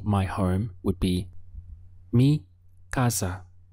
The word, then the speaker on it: casa: home would be me Gazza you'll also hear this pronounced as me Casa with more of an S sound depending on which country you're in but either way you'll be understood how would you say